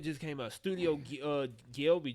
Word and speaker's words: Ghibli: just used to pronounce how do you pronounce it how say the name for it Ghibli there you go Studio Ghibli just dropped